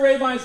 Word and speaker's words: Rabine: So Gary Rabine's my name. The nice thing about up northern Illinois here, most people know how to pronounce this name of mine. Okay. It's Rabine, long A, long I.